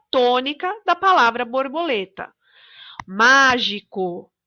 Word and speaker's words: mágico: Mágico. Na palavra mágico, a sílaba tônica é o má.